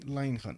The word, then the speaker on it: Leinhan: Lenny Leinhan. Okay, there's an extra N over there that I wasn't pronouncing.